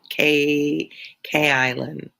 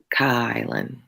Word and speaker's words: Kylan: Oh, K Island. K Island. When you came on, I knew that I mispronounced it. Kylan. Kylan. Oh, not K. Kylan. That's it. Kylan. I don't know why. Like Kyle. Kylan.